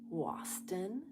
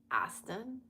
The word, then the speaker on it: Aston: Andrew Waston. Andrew, oh my God, I fucked that up. I really messed that up. Andrew Aston.